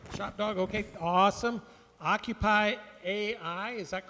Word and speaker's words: OccupAI: OccupAI, is that correct? Occupy, got it.